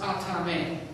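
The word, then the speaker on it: athame: exception of the ceremonial killing knife called an atame now it's spelled it looks like aan a t h but it's pronounced atame with the exception of that black handled killing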